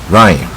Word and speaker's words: rhyme: 字母是不发音的啊，rhyme 我邻居有一架水上